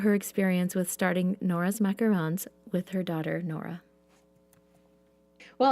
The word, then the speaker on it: macarons: So, you and your daughter, Nora, have started this business called Nora's Macarons, right? You said it right. I'm so impressed. Good job. Well, because there is a difference between macarons and macaroons, right?